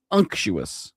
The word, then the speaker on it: unctuous: Unuous. Unuous. Like punctuous but no P but no P.